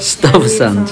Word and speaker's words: Stuyvesant: How to pronounce that? Stuyvesant.